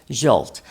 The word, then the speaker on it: Zsolt: Alex Jolt and did I say did I get the name right because I'm always getting it wrong.